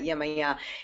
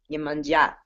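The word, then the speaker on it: Iemanjá: It's not Yemaya, it's Yemanja.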